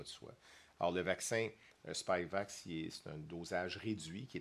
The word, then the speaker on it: Spikevax: Alors, comme vous l'avez entendu déjà la semaine passée, Santé Canada a autorisé le vaccin Spikevax, c'est comme ça qu'on le prononce, là, de Moderna pour les enfants jeunes, les très jeunes enfants.